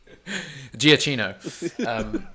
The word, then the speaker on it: Giacchino: We were talking about this Giacchino. Giacchino.